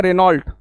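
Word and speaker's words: Renault: इन सब बातों को ऐसी एक और भी गाड़ी आती है रेनॉल्ट पता नहीं रेनॉल्ट रेनॉल्ट करते रहते हो उसका मतलब है रेनो सॉरी प्रोनंसिएशन है रेनो व रेनॉल्ट नहीं है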